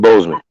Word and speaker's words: Boseman: So Chad Boseman. yeah. Okay, Okay. I thought I said it right. I think I said Bosman or something.